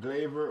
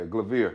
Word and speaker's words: Glavir: glaze actually you actually you could pronounce it glaver or okay glavier well you know yeah